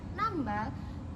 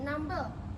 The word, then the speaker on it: nambal: Ada kesalahan bunyi pada kata nambal yang diucapkan menjadi nambel, yaitu perubahan fonem a menjadi fonem e. Yang ke-11, ada kesalahan bunyi